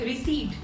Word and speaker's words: receipt: Whenever I pay bill, I never forget to take receipt in return. Yes, it's receipt. P is silent here.